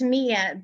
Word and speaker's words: Mia: I'm going to pronounce it, and I hope I pronounce it correctly. It's Mia, but I keep telling my husband that that's not the way that it's pronounced, but I have to